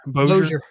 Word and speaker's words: Bossier: Yes, I don't know how to pronounce that first word, Bossier. But I do. Bossier.